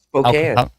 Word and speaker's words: Spokane: Is that how you pronounce it, Brennan? Are you sure? Yeah, Spokane.